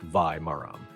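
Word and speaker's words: வாழை மரம்: In Tamil, a banana plant is called var maram, pronounced vai maram.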